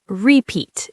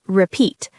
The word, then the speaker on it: repeat: Not repeat. It's repeat. The stress is on the second part.